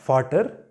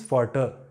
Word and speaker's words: Vater: So it is not Vater, it is Vater.